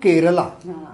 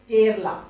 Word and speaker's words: Kerala: This is a Karela and not Kerala. Kerala is a state of India. That is a Kerala. Is K-E-R-A is Kerala.